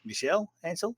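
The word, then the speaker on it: Michel Ancel: aners retirement now uh I've probably said that wrong because it's a French name Michael Michelle anel how do you say that yeah Michelle anel okay Michelle anel uh excuse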